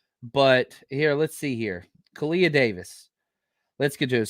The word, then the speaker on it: Khalil: Let's talk about, it's pronounced Khalil.